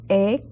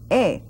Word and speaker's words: he: I know someone had said he comido suficiente, but it's not he, it's e, and that H is silent. That's why it's e, like if it were just an E alone.